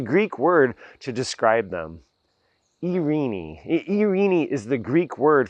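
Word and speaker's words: εἰρήνη: Now, this Greek word for peace, it has lots of different ways that it can be pronounced. It can be Irene, like I said it. It can be Irene, and however you say it.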